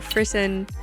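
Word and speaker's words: frisson: I actually talked about frisen I think that's how you pronounce it f r i s s o n and it's the phenomena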